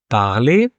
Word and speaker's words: parle: For instance, parler, past tense, parler. You see the pronunciation? It is important with present tense because when I say I speak, I don't pronounce the last E, je parle, because